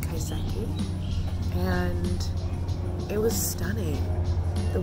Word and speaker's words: kaiseki: Kisiki?